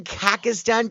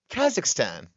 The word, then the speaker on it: Kazakhstan: the Ivory Coast, Jordan, Kakistan, Kenya. Oh, wait, hold up. Go back one. Jordan, then Kazakhstan. You said it right this time. Last time you said Kakistan.